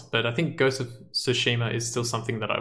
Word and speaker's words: Tsushima: every single episode because I cannot pronounce it Tsushima just the T is silent that's all I have